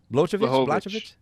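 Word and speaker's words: Błachowicz: We have at the light heavyweight position, we have Israel Adesanya coming up and trying to challenge John Blachowicz. How do you say his name? Blahovich.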